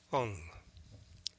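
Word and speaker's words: Phung: Alone on the Ocean by Donna Fong, spelled with a P. P H U N G.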